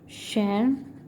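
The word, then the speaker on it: Tschermak: बाय 3 scientist, 3 biologist, Hugo de Vries, Karl coherence and was Schermark, what's the pronunciation? Schermark.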